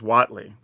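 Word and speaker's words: Huatli: and I have been saying this correctly as Watley so if you're wondering that is how it's pronounced just saying okay so Watley poet of unity three Mana for a 23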